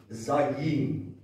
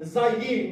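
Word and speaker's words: זַיִן: It's pronounced zayin and it means weapon.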